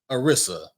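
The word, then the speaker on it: Anissa: her name how do you say that name Arisa there you go say it loud and proud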